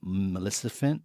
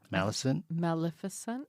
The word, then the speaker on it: Maleficent: But I saw a casserole dish in the shape of a scary coffin with Maleficent. Is that how you say it? Maleficent? Maleficent.